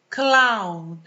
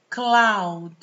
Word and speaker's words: cloud: Cloud. Cloud. Tá vendo o macete aqui? Você olhar para esse OU, que também nem sempre vai ser pronunciado assim, mas é o mesmo som de house, mouse, né?